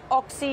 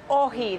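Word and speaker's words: όχι: Morning The no poster say oxy it's not pronounce oxy It's pronounce Oh he that is Greek for now and then There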